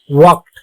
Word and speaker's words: walk: তাহলে এল এবং কে যদি পাশাপাশি থাকে, এল এর উচ্চারণ সাইলেন্ট হয়ে থাকে, অর্থাৎ ওর উচ্চারণ আমরা করব না।